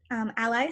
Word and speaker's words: a11y: And just so everyone knows, ally spelled with 2 1s is actually short for accessibility.